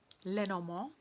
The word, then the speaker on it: Lenormand: Lenormand, as I say. I mean, since we're singing in French, I might as well pronounce things in French correctly.